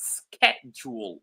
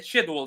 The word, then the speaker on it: schedule: the United States mostly it's pronounced schedule like with a K instead of sh sound all right let me